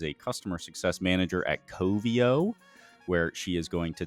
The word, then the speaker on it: Coveo: Well, how do you pronounce your employer's name? Coveo.